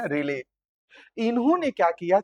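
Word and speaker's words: Rayleigh: थे जिनका नाम था रेले। आप लोग को थोड़ा अजीब लग रहा होगा लेकिन स्पेलिंग है रे और एल ई आई जी एच है बच्चों। है ना रेले।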